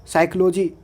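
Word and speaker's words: psychology: उसी तरह से यहाँ पे निमेटिक, साइकोलॉजी, साइकिक, शाम, निमोनिया, स्यूडोसाइंस, साइकार्टिस्ट, तो इन सब में हम लोग देख सकते हैं कि पी के बाद एस टी या एन आ जाएगा तो पी साइलेंट हो जाएगा।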